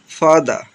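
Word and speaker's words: father: যেমন ফাদা ফাদা আমরা সাধারণত ফাদার বলি। কিন্তু উচ্চারণ করতে হবে ফাদা।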